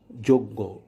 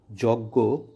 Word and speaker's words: যজ্ঞ: আদ্য অ বা শব্দের শুরুতে অ এর পর ক্ষীয় অর্থাৎ ক যুক্ত মূর্ধন্য স অথবা জ যুক্ত ইয় থাকলে উক্ত অ সাধারণত সংবৃত বা ও এর মতো উচ্চারিত হয়। যেমন অধ্বনির পর ক্ষীয় যোগে লক্ষ্য বা পক্ষ এবং অধ্বনির পরে জ ইয় যোগে যজ্ঞ। এ শব্দগুলোর উচ্চারণ লক্ষ্য, পক্ষ বা যজ্ঞ নয়।